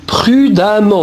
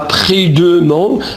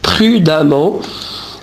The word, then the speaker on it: prudemment: Mais faites attention à la prononciation. Ici, on dit prudemment. On ne dit pas prudemment. Non, on dit prudemment.